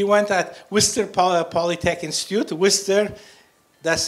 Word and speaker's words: Worcester: at Worcester Polytech Institute Worcester that's how Americans pronounce it I think it's written Rochester that it was still just like Worcestershire sauce it's a whistle Polytech